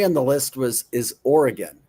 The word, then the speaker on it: Oregon: Number three on the list was is Oregon. It's Oregon. Oregon. Oregon. Not Oregon.